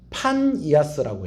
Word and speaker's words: 파니아스: 조금 더 정확하게 발음을 하면 파니아스라고 해야 돼요.